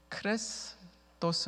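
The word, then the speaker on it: χρηστός: 라는 헬라어 단어가 아 제가 발음 하면서 클래스 토스 라고 발음을 했습니다 근데 그리스도 이것도 헬라 오지 않습니까 그리스도 예수 할 때 그리스도 그리스도 를 헬라어로 바로 가면 크리스토스 입니다 클래스 토스 크리스 토스 비슷하죠 그리스도인들 할 때 크리스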